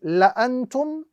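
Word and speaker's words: لَأَنتُمْ: So the correct pronunciation of this particular word or this particular phrase in the Quran or in the Arabic text is la antum, as opposed to la antum. The correct pronunciation is la antum without any prolongation at all because of the fact that the alif here is considered as a silent alif because of the small circle appearing on top.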